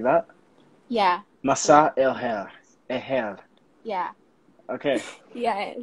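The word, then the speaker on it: مساء الخير: Masa el hair.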